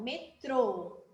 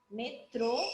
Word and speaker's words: metrô: com as mesmas letras porém o acento faz a diferença então metrô metrô e aqui ó metro certo então vamos lá para